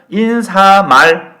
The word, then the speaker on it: 인사말: 리뷰를 보시면 리 누른 인사말 5.50 1 3 많이 아니죠 인사말이 표준 발음 입니다 인사말 다시 말하면 마지막